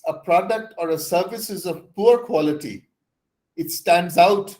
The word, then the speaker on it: ISO: equal so i i iso is pronounced as iso iso from isos meaning equal if you keep that